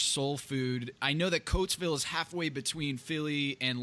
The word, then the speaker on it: Coatesville: I know that Coatesville is halfway between Philly and Lancaster. Right. I think I pronounced that right.